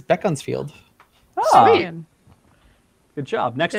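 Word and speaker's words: Beaconsfield: so folk next one bacon field of course beacons field oh it's going to be bacon-filled huh sorry cory what was it bean fee bean fee beefold uh this one heather got it is beckon's field good job next not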